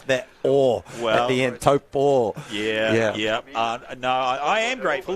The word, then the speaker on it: Taupo: Let's call it 2K from the Love Taupo sign, Hayden. Got to do a quick acknowledgement. Thank you the other day for helping me to figure out my pronunciation of Taupo.